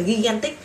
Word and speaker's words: gigantic: big, big, huge, huge, huge, giant, giant, giant, enormous, enormous, enormous, and gigantic, gigantic, chứ mà là gigantic, viết thì là ghi nhưng khi đọc sẽ là gi, gi, gi, gigantic, gigantic, gigantic.